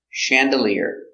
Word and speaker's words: chandelier: skydiving very good pronunciation Chandelier chandelier accidentally first syllable soft sound Chandelier this is a gold